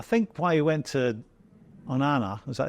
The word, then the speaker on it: Onana: I think why he went to Onana, is that how you say it? Onana?